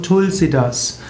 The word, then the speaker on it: Tulasidasa: Pflanze auch tulsipflanze genannt tulasidasa wird meistens ausgesprochen tulsidas das Sanskritwort tulasidasa wird in Indien verkürzt auf tulsidas Tulsi ist winu heilig